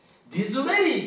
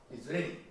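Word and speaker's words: Disraeli: 人なんですディズレリーっていうのはですね英語ではねこうが来ますディズレリデズレリこれね D イスラエル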